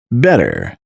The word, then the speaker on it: had better: Had better is pronounced as better. We better get going.